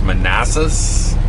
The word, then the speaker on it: Manassas: We have 971 miles to our destination of, I believe it's pronounced Manassas, Virginia.